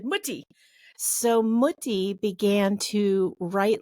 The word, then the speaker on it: Mutti: And I'm sure we're mispronouncing it. Anybody who speaks German would probably be like, that's not how you say it. But that's how we said it in our house. We said Mutti.